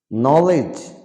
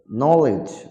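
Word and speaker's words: knowledge: বুধবার এজ মানে কিনারা নলেজ মানে জ্ঞান নলেজ মানে জ্ঞান এখানে ডি এর উচ্চারণ হবে না এই সমস্ত শব্দগুলোতে ডি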